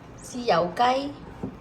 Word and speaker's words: 豉油雞: 豉油雞。雞。豉油。豉油。雞。雞。豉油雞。豉油雞。 That's right, it's for soy sauce chicken or 豉油雞.